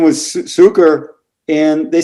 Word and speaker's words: Cuker: So my name, Cuker, it's most people pronounce it as Cuker, but it's Cuker. Oh, yeah? Which you probably recognize as a version for sugar, right?